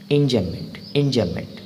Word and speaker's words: enjambment: Enjambment nahi, it's enjambment. M is silent.